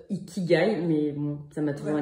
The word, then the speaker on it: ikigai: Qu'on prononce pas Ikigai, qu'on prononce Ikigai, mais bon, ça m'a toujours énervé.